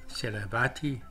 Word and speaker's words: Sarasvathy: Virginia in the USA the second letter in her last name seravati the a teams in her case to have to be pronounced more like an e was born in